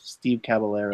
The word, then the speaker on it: Caballero: You see, if you're in Argentina, that would be pronounced caballero. Ooh. But I believe that Steve Caballero, I believe he called himself Steve Caballero.